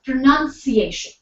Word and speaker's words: pronunciation: on there on the slide so here I it's pronunciation next word when excuse me m when it's